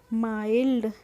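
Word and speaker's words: mild: आई एल डी तो एम आई एलडी क्या हो जाएगा माइल्ड क्या हो जाएगा माइल्ड इसको मिल्ड नहीं पढ़ते हैं इसको पढ़ते हैं हम माइल्ड next and last word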